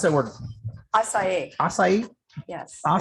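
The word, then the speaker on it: açaí: my gosh it's a blueberry how do you pronounce that word acai acai yes i'll say blueberry outside lemonade it's called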